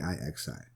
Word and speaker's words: Cixi: It's not spelled like it sounds. It's Cixi.